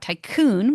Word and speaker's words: Taikun: And we're going to be building out Tycoon, which is spelled Taikun.